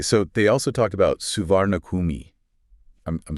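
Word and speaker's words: Suvarnabhumi: to hear locals say swanappam. Okay. Like they kind of drop that hard R sound. Swanapum.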